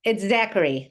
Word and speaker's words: Zachary: Did I pronounce that right? It's Zachary, Zachary. Zachary.